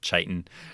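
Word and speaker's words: chitin: It's kitan. So ch i t i n. You can pronounce it kiten or chitan.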